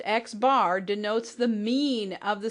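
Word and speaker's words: x̄: with the bar on top of it it's pronounced xbar denotes the mean of the set of sample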